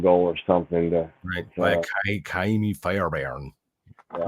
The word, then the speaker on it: Fairbairn: By Kaimi Fairbairn. Yeah. You have to almost be Scottish to say his name.